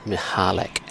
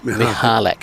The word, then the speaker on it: Mikulak: The other one is Alex Mikulak, who's playing over on court 3 at the moment. Yep. And I don't know Alex all that well, but he tells me his name is pronounced Mihalak. Yeah, Mihalek.